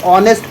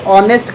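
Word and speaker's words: honest: भी बताया है की हा ओ एन ए एस तू को हम हा साइलेंट होता है हम इसको ऑनेस्ट पढ़ने हैं क्या पढ़ने हैं इसको ऑनेस्ट की तरफ पढ़ा जाता है ठीक है और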